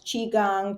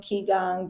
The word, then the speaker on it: Qigong: And that's not really what it is, but it certainly is promoted that way, as well as Qigong, Qigong, Gikong, that Mhm. there are different pronunciations for that, and acupuncture.